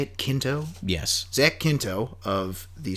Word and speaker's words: Quinto: Quinto?